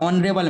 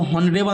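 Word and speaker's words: honorable: अब ऑनरेबल मैन, इसको हॉनरेबल नहीं पढ़ती, ऑनरेबल। तो पढ़ना शुरू कहाँ से किया, ओ से ना शुरू किया। एच इसमें साइलेंट होता है, इसमें भी एच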